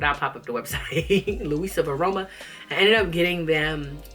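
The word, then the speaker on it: LuisaViaRoma: Oh, Luis Varoma. I'm saying it wrong, but I'll pop up the website. Luisa Varoma.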